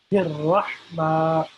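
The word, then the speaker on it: الرحمن: So this H here also needs to be pronounced in a special way by saying it from our throat as Ha. So Bismillah, Rahman, Rahim, Bismillah, Rahman, Rahim, Bismillah, Bismillah, Rahman, Rahman, Rahim, Rahim.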